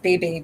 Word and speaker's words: BB: I would have encountered the giant Kroger supermarket, referred to by some in the black community as the BB, pronounced Bebe Kroger, on account of the seeming predominance of older black ladies who shop there.